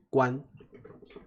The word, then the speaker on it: 官: 好，先跟我念一遍，关。关，其实它的发音跟关门的关是一样的，对不对？